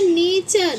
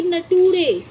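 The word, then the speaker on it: nature: यू आर इ आया तो इसे हम पढ़ते हैं नेचर ना कि नटूरे नेचर ऐसे ही देखो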